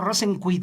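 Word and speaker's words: Rosenqvist: señor ¿Rosenvik? que- Ajá, no, Rosenquist dice...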